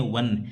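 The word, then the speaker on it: one: University European country देखो ए वन eyed man ओ एन ई ओ भी स्वर होता है। लेकिन ओ एन इसको पढ़ते हैं। वन व की ध्वनि आ रही है।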